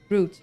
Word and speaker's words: Grot: Grot pronounced like root, rhyming with root.